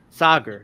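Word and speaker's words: Saagar: This totally butchered his name too and it's like that that I found funny. Sager.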